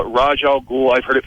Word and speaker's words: Ra's al Ghul: In the movie they call it Raj Al Ghul. I've heard it pronounced Ra's al Ghul.